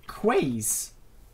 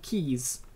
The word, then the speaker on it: quay: I always called them quays, because it's spelled Q-U-A-Y, but apparently they're called keys.